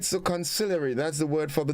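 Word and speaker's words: consigliere: now sometimes called conciliaries also all right so conciliary that's the word for the day c-o-n-s-i-g-l-i-e-r-e it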